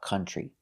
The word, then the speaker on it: country: So now we have OU, but it's not making the ow sound. It's making the sound like cup, cut, and up. Country. Now we have the TR making the sound ch, like in chicken.